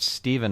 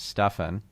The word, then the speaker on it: Stefan: button to hear like I get step all the time even though my name is Stefan yep that can be